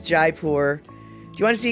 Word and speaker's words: Jaipur: Until I hear otherwise, it's Jaipur. Do you want to see a cow on the road? No. So as it turns out, Pecola Tea claims that Jaipur is right enough. She's saying I say it right.